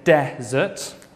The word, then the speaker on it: desert: Okay, the difference really is on the stress. We say desert, stress on the first syllable, and dessert, stress on the second syllable.